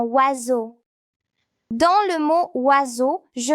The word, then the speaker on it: oiseau: Dans certains mots, la lettre S fait le son Z, comme dans oiseau.